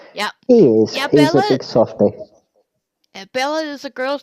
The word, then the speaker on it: Bela: You have to spell it out because Bela. yeah, ballet. Bella, yeah. Yeah. But it's pronounced Bella.